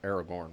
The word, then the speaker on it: Aragorn: Um, you do still have the conversation um between Bormir and Aragon, but there's less of a Aragorn. Why did I say Aragon?